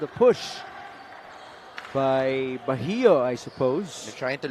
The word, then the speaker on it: Bahio: Vince Magbuhos and Chris Biton check in alongside MJ Ayaay to join JB Bahio. Yes, that is how you pronounce it.